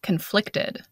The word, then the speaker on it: conflicted: And notice the different pronunciation between the noun conflict and the adjective conflicted. We stress the first syllable in the noun conflict, and we stress the second syllable in the adjective conflicted.